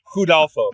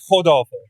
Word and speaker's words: Rodolfo: Hudolfo. Is that how you say it? Hudolfo? It's Rodolfo. With the H, right? The Brazilians can't pronounce R's, I was reading.